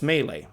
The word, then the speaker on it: melee: I know how it's pronounced. It's melee.